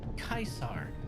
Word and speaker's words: Caesar: Uh, Caesar, since it's a Fallout list, it's pronounced Kaisar.